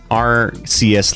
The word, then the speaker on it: Arceus: Like, so many people pronounce Arceus like Arceus.